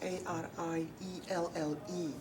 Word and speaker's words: Arielle: My name is spelled Arielle.